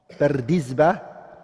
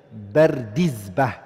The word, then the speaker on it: Bardizbah: Bardizba, it's a Persian word, and it means farmer. That's the correct way of saying the name. Bardizba, that's how you say it.